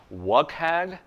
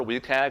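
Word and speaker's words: WCAG: resource called week AG I will say that I think it's technically just like gift forge if it's pronounced one way for other people I think it's technically pronounced what CAG but I prefer we tag and I'm sticking with it because it has a Wii in it and that's fun so we tag is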